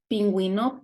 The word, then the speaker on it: pingüino: of the U, like pingüino, penguin. If you see this 2 points on top of the U, that means that you need to pronounce the U.